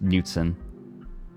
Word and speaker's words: Knudsen: The D is just it's just Knudsen. It's not fancy. It's not that fancy with like silent letters. Only the K is silent.